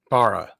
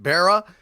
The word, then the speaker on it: Bara: Barra, I apologize. Barra. You're still muted. It's Bara, not Barra. It is Bara.